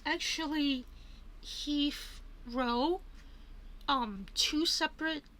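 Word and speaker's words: Heathrow: Um Hephro. Now my classmates pronounce this that's he.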